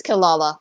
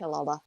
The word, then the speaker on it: Kirara: It's Kilala. It's spelled with the R's, but it's pronounced Kilala.